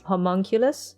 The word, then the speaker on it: homunculus: he's made by an alchemist oh like a homoculus or homunculus homunculus homunculus yes i i just remember the japanese pronunciation from full metal alcohol metal alchemist yes